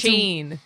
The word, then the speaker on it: Shein: What is that? Shein. It's- Sheen. Oh, is it?